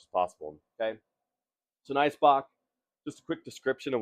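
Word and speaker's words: Eisbock: and alcohol balance pronounced ice Bo because in German ice is ice um or if you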